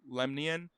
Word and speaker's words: Lemnian: It's like the Nemean lion that Hercules fights, but it's the Lemnian. Yeah. Like Lemnos.